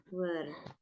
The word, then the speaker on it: were: yang berikutnya was or were were bukan where ya bacanya were were lebih